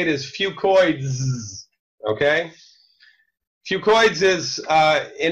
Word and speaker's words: FucoidZ: say that 10 times fast I call it fucoid Z because that's easier to pronounce but really the correct way to say it is fucoids okay fucoids is uh an encapsulated fucoidin product